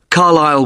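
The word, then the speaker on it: Carlisle: You don't pronounce the S. Carlile way.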